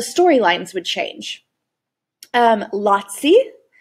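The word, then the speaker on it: lazzi: lines would change um lotsy okay kind of rhymes with yahtzee lotsy um were comic bits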